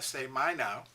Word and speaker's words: σημαίνω: is a great words uh pronounced say my now and it means communicated